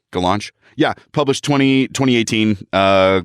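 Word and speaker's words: Gollancz: this publisher name g-o-l-l-a-n-c-z gallants i guess the launch sure cz is ch in like like czech like czechoslovakia yeah sure why not go launch yeah publish 20 2018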